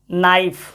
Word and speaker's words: knife: और देखो KNIFE नाइफ, नाइफ मतलब होता है छुरी, नाइफ में के है लेकिन साइलेंट रहेगा, नाइफ हो गया।